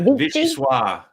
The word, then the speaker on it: vichyssoise: Fancy way of vichyssoise.